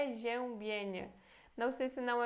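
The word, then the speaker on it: przeziębienie: uma palavra difícil né RZ é como se fosse então um J em português então aqui temos fé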